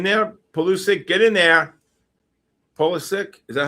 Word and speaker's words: Pulisic: Pulisic, is that how you say it? Pulisic? Pulisic, yeah.